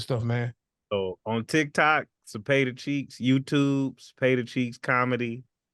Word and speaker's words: Cepeda: It's pronounced Cepeda.